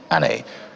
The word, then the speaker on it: ANÉ: by the way but her stage name is Annie how about got that correctly good morning welcome